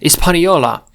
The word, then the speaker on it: Hispaniola: Its name was Hispaniola, или Испаньола. Тут же вроде оно не читается. Вот это аж-то непроизносимое. Испаньола.